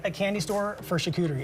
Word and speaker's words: charcuterie: Charcuterie?